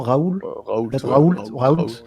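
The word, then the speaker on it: Raoult: c'est le professeur didier rahout je prononce bien son nom raul qui est une référence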